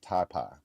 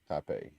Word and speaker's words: Taipei: You know, it's like Oh, and uh John said ta it's pronounced taipai. I think Taipei or was it?